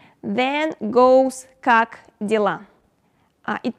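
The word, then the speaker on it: как дела: means hello hi hey pre vet then goes kak dilla uh it pronounced like kak dilla it means how you doing what's up how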